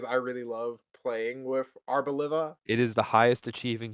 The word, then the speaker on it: Arboliva: I say Arboliva. Arboliva, that's how you say it.